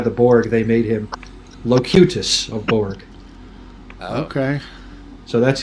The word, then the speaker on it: Locutus: seen the video Until is that how you pronounce it that's so weird I came up with locatus that's what I'd start well you know if you watch Star Trek you would know locutus aboard apparently yeah Geeks dude absolutely yeah no